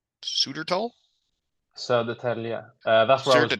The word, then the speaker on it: Södertälje: Sudertal. Sudertal? Södertälje. That's where I was born. Södertälje.